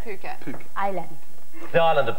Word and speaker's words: Phuket: you been in in Thailand okay oh it's pronounced Phuket Phuket Island the island of Phuket Phuket yeah very nice we went out one